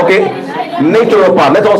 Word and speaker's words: naturopath: CR to the na and replace it with natural paath okay natural paath let's all say natural paath natural paath let's